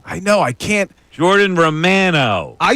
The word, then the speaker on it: Romano: It should be by Italian standards.